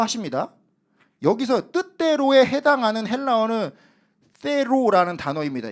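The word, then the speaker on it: θέλω: 여기서 뜻대로에 해당하는 헬라어는 테로라는 단어입니다. 이 th 발음 번데기 발음이에요. 테로 이렇게 좀 어렵습니다. 발음이.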